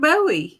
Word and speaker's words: Bowie: you spell it b-o-w-i-e oh like david bowie oh my gosh but we pronounce the buoy here yeah bowie according to